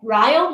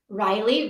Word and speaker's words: Ryle: with Kylie oh okay Ryle rhymes with Kyle Riley rhymes with Kylie am